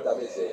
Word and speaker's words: Tamés: Dichiarato che la pronuncia corretta è Tamés, ma è una convenzione, come sapete.